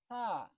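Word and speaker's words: ح: এখন শুরু করছি হা এটা ঠিক গলার ভিতর চাপায়া বলতে হবে এটা হলো হলকের অর্থাৎ আমাদের যে কণ্ঠনালীটা আছে এই কণ্ঠনালীর ঠিক মধ্যখান থেকে উচ্চারিত হচ্ছে ঠিক আছে আছে এটা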